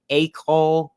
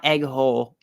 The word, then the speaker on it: Aikol: That Aikol, not egg hole, Aikol, I still don't know how to say it.